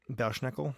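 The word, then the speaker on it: Belsnickel: Bell snickle Bell snickel I'm not sure if it's Bell snickle or B schnickle but just to avoid ladder but I don't I want to avoid the tragedy in case that's not how it's pronounced so Bell snickel is uh from German folklore it's definitely the latter Bel schnickel yeah Bel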